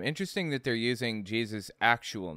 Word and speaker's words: Jesus: In the the Old Test, or I'm sorry, in the New Testament, that's how it was pronounced, Jesus, and it was not changed over to Jesus until it passed through Germanic regions, where Y's are pronounced like J's, and the I eventually morphed into the J.